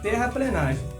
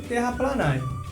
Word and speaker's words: terraplenagem: Então dica número 1, terraplenagem. Opa, isso mesmo, você não leu errado e também não ouviu errado. O termo correto é terraplenagem e não terraplanagem.